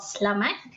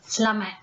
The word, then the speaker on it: selamat: It's selamat. You just pretend that the E is not there, just slash that. It becomes selamat.